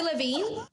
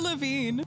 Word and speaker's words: Lavigne: did we just break it to you every laveen avril lavigne avril lavigne okay now i love this name